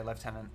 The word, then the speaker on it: lieutenant: Yeah, I've mentioned this before, but yeah, the reason why in Britain we say lieutenant. Do you want to know the French? No, it's because the pronunciation comes from back when U's and V's were kind of interchangeable. So we'd pronounce the U part as a V sometimes. So that's where lieutenant comes from, and it's just kind of become a kind of like soft V close to an F over time.